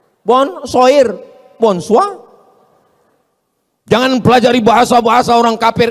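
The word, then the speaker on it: bonsoir: Bacanya bonjou. Bon soir, bonsa.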